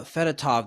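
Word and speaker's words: Fedotov: two5 one five points I did see uh fatov the the the goalie am I pronouncing that correctly yes I did see he's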